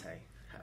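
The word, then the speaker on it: Jesé: Apparently you pronounce it Hazy. Hesse. Or how did Hesse. Hesse? Yeah. I like saying Jesse. It sounds a bit better.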